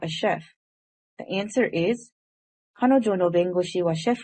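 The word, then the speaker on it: 彼女: learn a new vocabulary word this word is pronounced as kanojo which means she in japanese let's do some practice how would you say she is not a housewife in japanese the answer is kanojo washoku Jameson so let's look at this sentence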